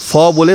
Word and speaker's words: ফুল: অনেকে ফুল বলি কিন্তু ফলে বাংলায় কিছু হয় না ফুল তো এটা একটু সবাই মাথায় রেখো ফুল বাংলায় পি এইচ উচ্চারণ হয় এফ উচ্চারণ বাংলায় নেই এই যে স্কোয়াশ স্কোয়াশের